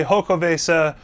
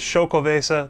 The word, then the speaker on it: Xocoveza: gonna go into it so I've heard people say ho Cove ASA choc evasive from stones from the original bottle it is show Cove ASA that's what we're gonna call it that's how they pronounced it in their original labeling so that's we're gonna call